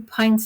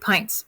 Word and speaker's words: pint: of milk does this recipe need okay two pints of milk and well how many pints are in a gallon one two three four five six seven eight eight pints this is pint not pint I know it